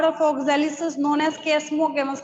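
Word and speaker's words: chasmogamous: तो आप पहला पॉइंट लिखिएगा, the open flower of oxalis is known as कैस्मोगेमस। कई टीचर्स इसको चेस्मोगेमस भी बोलते, कोई दिक्कत नहीं है, स्पेलिंग नहीं चेंज होने वाली है, कोई नहीं लेके जा रहा कहीं, ठीक है।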